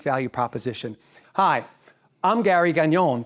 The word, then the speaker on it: Gagnon: Hi, I'm Gary Gagnon, pronounced like filet mignon.